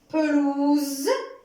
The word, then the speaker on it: pelouse: Alors, on prononce le son Z si la lettre S est entre deux voyelles.